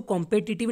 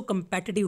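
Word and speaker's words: competitive: इसको कॉम्पिटिटिव नहीं बोलना है, इसको कंपेटिटिव बोलना है, ओके, कंपेटिटिव.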